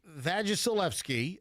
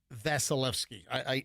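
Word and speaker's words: Vasilevskiy: Did I mispronounce the last name? Of whom? Listen, I know that it's Vasilevsky.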